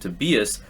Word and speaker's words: Tobias: acquired Defender Tobias salquist or to Tobias uh as the pronunciation guide here listed to beas salquist Via transfer from